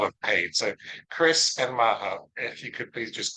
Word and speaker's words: Maha: so my name is Maha M ah ha a uh you pronounce the h I say this because